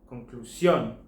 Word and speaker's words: conclusión: same in Spanish, but with an accent mark over the O to mark that the last syllable is the one that's stressed. Here's three examples. Conclusion, conclusión.